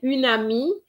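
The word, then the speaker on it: un ami: so that's very good and unami uh this is compulsory liaison and often um you know during exams i find that students don't make those liaisons with the un and plus the word starting with the vowel they don't i don't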